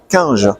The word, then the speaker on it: Cunge: Donc nous sommes au Galactic Days d'Auxerre édition 2024 en compagnie d'Étienne Quinge. Je prononce bien C'est ça.